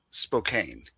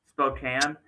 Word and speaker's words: Spokane: So, it phonetically Spokane, but I'm not going to say that it's officially Spokane because Louisville is not phonetically correct. Aens is not phonetically correct. Almost no city is phonetically correct. So, I think it's Spokane.